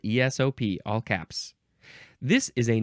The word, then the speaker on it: ESOP: And which ones are emphasized? The P is emphasized. ESOP. It's spelled ESOP, all caps.